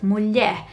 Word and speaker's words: mulher: app is the word mulher, which is the word for woman. And he tends to say it mulher, mulher instead of mulher.